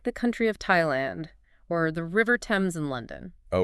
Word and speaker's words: Thailand: It's much rarer where the th is simply pronounced as a hard t.